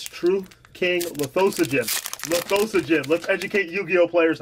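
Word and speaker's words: Lithosagym: You mean Lithosagum? No. What is Lithosogen? That's his name, Lithosogen. That's how you pronounce it. It's not Lithosagum, it's not Lithogasm. It's not Gotchigasm.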